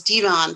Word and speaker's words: Devon: was just as clear her son was devon pronounced like levon devon was her first